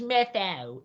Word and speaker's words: Matthau: It's Matthau. Sorry about that. No, it's not one of those that's spelled really weird for whatever reason.